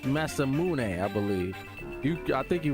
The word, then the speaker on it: Masamune: You don't have the Masamune? For some reason, I cannot pronounce that right, even though Avery told me it's Masamune.